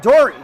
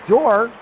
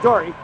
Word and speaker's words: Dory: to mention that Dory, I was calling her Door, and Coach Mandarino so kindly told me that I was mispronouncing her name.